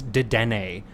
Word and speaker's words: Dedenne: By the way, it's Dedenne. Stop. If you listen to Where the Big Boys Game podcast with I Valerie mispronounced a Pokemon, but Andrew, you mispronounce things all the time.